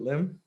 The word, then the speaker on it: Lim: Am I pronouncing the last name correctly? Is it Lim?